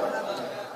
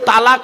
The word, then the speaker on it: তলাক: হ্যাঁ বলুন না বাবা তালাক কি বলে শব্দটা তালাক শব্দটা কিন্তু তালাক নয় শব্দটা তালাক নয় এই মা বোনেরা শুনে নিন শব্দটা হলো তলাক কি বললাম তলাক জোরে বলুন তলাক তলাক ওর আরবি উচ্চারণ